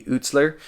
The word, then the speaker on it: Eutsler: point so yeah this is made by cody utzler i will say again i i was saying his name wrong for a long time i don't know